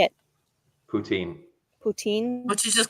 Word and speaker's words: poutine: that is yeah how do you say it poutine poutine what you just call it french fries